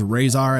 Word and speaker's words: Rahzar: very elusive toca and razar set now real quick pronunciation razar razar rezair dani says razar at the end of the movie that's what i'm going with so toca and razar